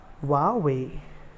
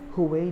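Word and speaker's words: Huawei: हुवेई नहीं बोलते हैं, इसको बोलते हैं वावे, वावे, ठीक है, हुवेई नहीं बोलते हैं।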